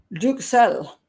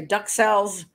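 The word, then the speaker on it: duxelles: lot of people say duck cells or duck cell um it's but it's originally a French pronunciation so it's I just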